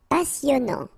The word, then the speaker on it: passionnant: Okay, here you pronounce the double S because you get a vowel, so it's really a strong one. Passionnant. Final T not pronounced, and then here you get this en sound.